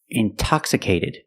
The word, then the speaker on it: intoxicated: or words like intensive intoxicated we have the stress after the NT we pronounce the T like a pure T TT release the sound intoxicated Integrity the stresses after